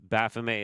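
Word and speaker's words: Baphomet: We'll just have our little Baffome right here. And yes, Baffome is a perfectly fine way to pronounce that name.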